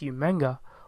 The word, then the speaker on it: Umaga: But then again, you get umaga. And if you look at the spelling and the way William Regal used to pronounce it as umanga, well, pretty much that's